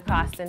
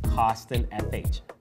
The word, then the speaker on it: Coston: Or you can check us out on Twitter at CostonFH. Once again, that's at CostonFH. I always say Coston is spelled like Boston, but just with a C.